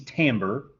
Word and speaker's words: timbre: okay so tone color or timbre t-i-m-b-r-e means timbre or is pronounced timbre and tone color or timbre is the quality